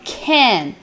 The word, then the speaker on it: can: à pronúncia do can, porque o inglês americano, ele vai falar esse can como se fosse um é, mais ou menos, tá? Então, can, é como se fosse um é, can, beleza? Vamos pronunciando aí em casa, can. O inglês britânico vai falar um pouquinho mais aberto, como se fosse uma letra A, tá?